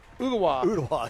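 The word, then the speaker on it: Ooltewah: Ugawa, yeah. Coach Northcutt had to teach me how to pronounce Ugawa.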